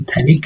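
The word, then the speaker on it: phthalic: तो इसका जो कॉमन नेम होता है उसे हम बोलेंगे थैलिक एसिड, और उसमें पी साइलेंट होता है, तो थैलिक एसिड।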